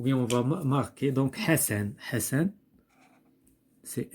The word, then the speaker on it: Hassan: Ici, nous avons deux S, donc Hassan, on va l'écrire ici. Il se prononce S.